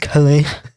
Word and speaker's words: Calais: I don't know how to say that. Calais. I thought you were gonna like. I'm gonna give you some the really perfect insightful information. Yeah. Oh, actually, it's pronounced Calais.